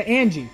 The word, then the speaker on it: Angie: Yeah, Angie. That was how it's pronounced.